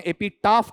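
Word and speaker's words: epitaph: एलएसजी में आपका एपिटेफ भी हो सकता है, इसे शुद्ध भाषा में एपिटाफ कहा जाता है, शुद्ध उच्चारण एपिटाफ है उसका।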